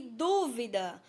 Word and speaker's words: dúvida: As palavras são duvida e dúvida, ó, bem parecidas. A diferença é quanto à sílaba tônica.